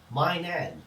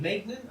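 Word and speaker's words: Maignan: between the sticks we've got Manan apparently that's how you pronounce it I I was always pronouncing it um Manan M Magan I don't know anyway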